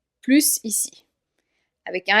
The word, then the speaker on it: plus: Ici, on va pas prononcer le S, on va dire c'est plus difficile que je le pensais. C'est plus difficile que je le pensais, parce que le mot qui suit commence par une consonne.